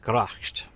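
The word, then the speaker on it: Bloodgracht: the Jaroslav is like Bloodgrasht. And yeah, because it's pronounced Gracht. I know this because of the developers. They would pronounce it that way.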